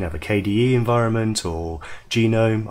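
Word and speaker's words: GNOME: a KDE environment or genome I know it looks like known but the section pronounced genome many others and these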